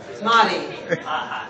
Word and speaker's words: Marty: Marty. Nice to meet you. Marty rhymes with potty.